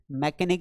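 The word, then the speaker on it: mechanic: व्हीम, ठीक है, ये हो गया आपका मैकेनिक, मैकेनिक में भी यहाँ पे एच साइलेंट है क्योंकि सी का मतलब क निकल जाता।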